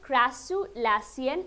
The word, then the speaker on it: crassulacean: That is how you pronounce it, crassulacean acid metabolism, the full form of the CAM plants.